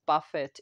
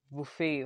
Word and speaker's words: Buffet: also purchased uh the ordinary buffet i was pronouncing it as buffett in the previous video because i didn't actually